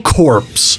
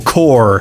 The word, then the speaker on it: Corps: This isn't pronounced colonel corpse. It's Colonel Core, which can also be written like this.